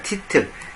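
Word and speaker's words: tittle: 타이틀이 아니라 티틀입니다. 티틀.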